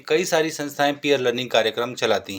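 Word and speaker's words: peer learning: आज का शब्द है पियर लर्निंग पियर लर्निंग के शाब्दिक अर्थ पर जाएं तो पियर का मतलब है साथी और लर्निंग यानी सीखना इसका सही उच्चारण है पीयर लर्निंग पीयर लर्निंग एक ऐसा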